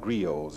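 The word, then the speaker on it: griots: by the old men who are called grios it's spelled g-r-i-o-t-s they are in effect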